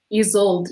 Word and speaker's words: Ysolde: So it's E. Let's just try it. It's E. Yi is E, and then sold. Ysolde, yes, that's it. Ysolde.